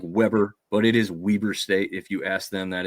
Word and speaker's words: Weber: It looks like Weber, but it is Weber State if you ask them. That is how they pronounce it. Almost like it has two E's in there.